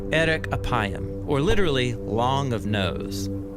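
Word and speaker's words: ארך אפים: In Hebrew, the phrase slow to anger is pronounced erek apayim, or literally long of nose.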